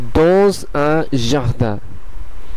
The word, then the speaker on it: dans un jardin: যেহেতু এই দ্বিতীয় শব্দের প্রথম কনসোনেন্টটি অথবা প্রথম বর্ণটি উ এবং প্রথম শব্দের শেষের কনসোনেন্টটি এস, সেই কারণে এসটি জেড এর উচ্চারণ হয়ে এটির সঙ্গে সংযোগ স্থাপন করবে।